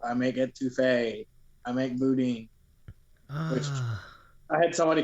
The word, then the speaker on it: boudin: It's like, yeah, I'll get a packet of or I'll get one of those boudins. Bowden. I was like, a what? That is so way off.